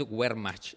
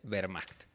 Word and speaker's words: Wehrmacht: La W se pronuncia como B, así que la Wehrmacht no es Wehrmacht, es Wehrmacht.